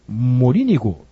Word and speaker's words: Morínigo: esse técnico aqui o paraguaio Gustavo morínigo é assim que se pronuncia nesse trabalho na página